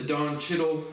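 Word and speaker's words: Don Cheadle: movie opens up and you meet the the dawn chiddle that's how you say his name character of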